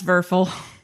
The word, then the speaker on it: Werfel: Is it Werfel? It's Werfel. Well, they need to spell it right then. W is always a V.